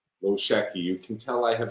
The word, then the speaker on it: Lochocki: And then they just decided, okay, we're going to pronounce it Lochocki, and that's your new last name. But actually, if it were pronounced in Polish, it would be Wojcicki, which is absolutely not how it's spelled. So, different languages have different alphabets, and that's just one letter in the Polish alphabet that is different than the English alphabet.